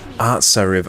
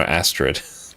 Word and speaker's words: Artsariv: Artsariv. Oh, that's her name. Artsariv. I've been saying it wrong for years. Artsariv. There we go. I've been calling her Astrid. Like from How to Train Your Dragon.